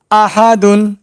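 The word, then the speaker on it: أحد: আ হা দুন আ হা দুন আ হা দুন এবার একসঙ্গে উচ্চারণ করব আহাদুন আহাদুন আহাদুন এরপরে আছে ওয়াকফ দাল হলো কলকলা হরফ।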